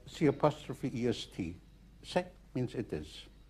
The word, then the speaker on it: C'est: Have you ever heard the expression c'est la vie? No? Mm-hmm. C'est means it is. It is spelled C''est.